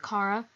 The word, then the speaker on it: Chara: I pronounce it Kara.